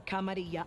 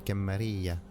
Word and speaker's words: Camarilla: Call me or Kamaria, I'll still kick your ass. It's interesting how she pronounces the camaria like something to eat like a tortilla.